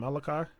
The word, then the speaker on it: Malaki: Malaki, his first name.